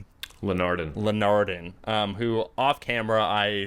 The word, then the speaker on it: Linardon: It's Linardon.